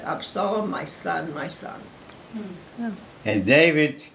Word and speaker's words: Absalom: Well, the pronunciation, no, it would be Absalom.